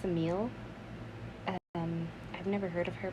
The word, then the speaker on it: Semele: I think it's pronounced Semele.